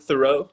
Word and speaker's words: Theroux: her name is it that's pretty good thoreau i usually hero yeah nice there you